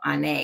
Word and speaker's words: Onae: on like oh n on a and so on a because that's pronounced pronouncing the pronunciation for it but it